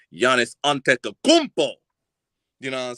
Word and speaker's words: Giannis Antetokounmpo: his his whole name right but I can pronounce it correctly Giannis antetokounmpo you know what I'm saying what is it